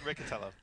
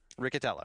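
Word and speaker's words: Riccitiello: ever that was awesome i believe it's richard richtellio he's a nice guy i'm sure i just don't know how to say his name uh ricatello ricatello got it uh so he was uh he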